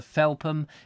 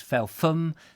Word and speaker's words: Felpham: people telling me that felpham was not spelt or pronounced rather felpem it was felfun that the ph was f and all of that and